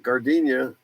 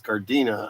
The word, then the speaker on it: Gardena: said he's uh gardenia i can always say gardenia but it's gardena i guess yeah gardena um i always remember it as being gardenia but i wasn't from there so maybe i just said it wrong i remember riding through